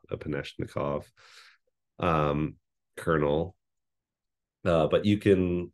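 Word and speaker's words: Epanechnikov: wouldn't pronounce the app I think that's how you say it upanishnikov um kernel but you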